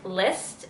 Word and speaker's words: Lysst: And I go on this website, I believe it's called, or it's pronounced List, LYSST.